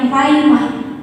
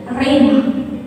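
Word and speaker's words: rhema: saudara, di situ dia memakai kata rema, raimah, gitu ya, bacanya raimah. Tahu mungkin kita karena Indonesia rema.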